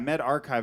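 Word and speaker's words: medRxiv: the um med rx met archive yeah yeah med archive is what is how they want it pronounced i believe um but yeah it's it's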